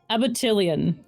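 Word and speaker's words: abutilon: you gonna name your burnt Beast oh muted abattillion you spell that a-b-u-t-i-l-o-n okay and then y it is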